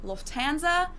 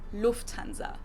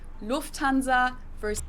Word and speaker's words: Lufthansa: In English, people usually say Lufthansa, but in German, we say Lufthansa. So the emphasis is on the first syllable, Lufthansa.